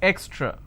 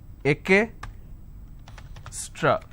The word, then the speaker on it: extra: this is the word if i have to break it for your quick understanding it's eck straw it's extra now what mistake people do is they pronounce this as ake stra so this is wrong